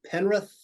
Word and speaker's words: Penrith: For instance, if I were to ask every player on Penrith, did I pronounce that okay?